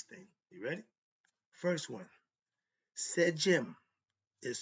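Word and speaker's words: sedjm: First one said Jim is spelled s e d jm.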